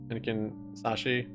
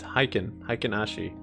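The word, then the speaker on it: Heikin-Ashi: Yeah, you didn't spell it right. It's Hikenashi.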